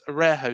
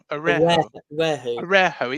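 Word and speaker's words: Araújo: Arejo. It's a silent J, supposedly. It's I thought it was a Araujo, isn't it?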